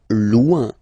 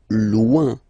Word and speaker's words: loin: Loin, loin. So remember, when you get this combination O-I-N, it's ouin, ouin, ouin, okay? Loin, all right?